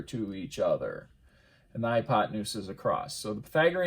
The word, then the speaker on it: hypotenuse: we call that the hypo tan use well if you put the wrong emphasis on your syllables otherwise it is the hypotenuse and so the hypotenuse